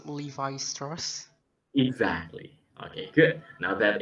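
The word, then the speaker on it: Levi Strauss: the third the third is i think it's levi stars exactly okay good now that is the correct way to pronounce the name of the company or maybe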